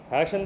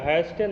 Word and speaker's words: hasten: हैशन पढ़िएगा, हैस्टन नहीं पढ़िएगा, ठीक है।